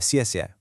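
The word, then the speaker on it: 谢谢: Over on the left, we have casia, meaning thank you. A quite pro tip for pronunciation here, that X and pinion sounds a bit like a soft sha in English.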